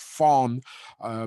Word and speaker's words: von: that have you know von in their name uh which is in german pronounced fawn you know from rudested